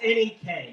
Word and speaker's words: NEK: First off, Barry, it's NEK, Northeast Kingdom. Only a mud duck turned flatlander pronounces it neck.